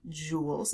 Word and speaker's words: joule: measured in joules and this is said joules it's spelled a little bit differently than the sparkly jewels that you might have in jewelry but it is said joules and it's the